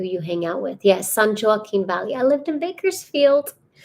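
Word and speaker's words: San Joaquin: hang out with yes San joen Valley I lived in Bakersfield um pronounce sun walking okay thanks oh God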